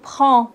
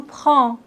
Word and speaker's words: prends: Je prends, on ne prononce pas le D ni le S. Tu prends, il prend, nous prenons, vous prenez, ils prennent.